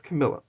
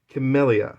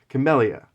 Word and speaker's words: Camellia: So I'm leaning towards Camilla. Or Camellia, sorry. I keep pronouncing her name wrong. Camellia.